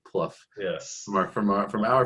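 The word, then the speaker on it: Plough: jane pluff uh p-l-o-u-g-h spelled like plow pronounced like pluff yes mark from from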